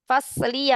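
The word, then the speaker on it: فصلي: Jadi bacanya panjang. Fasli. Fi fasli. Karena ada dua huruf di situ ya. Ada huruf ya. Bukan dua huruf ya, satu huruf. Tapi cuman lamnya kasroh. Tapi ya-nya sukun.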